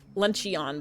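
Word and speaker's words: Luncheon: Um, Lunchion, but it's pronounced like Flareon.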